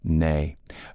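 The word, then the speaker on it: née: about that so I will do it correctly nay uh Crompton was born a crompton's Early Education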